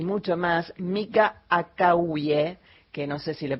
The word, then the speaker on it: Akawie: Bastante bien lo dijiste, se dice Akavie. Ah, me faltó la Akavie, yo dije Akavie, me faltó la acentuación.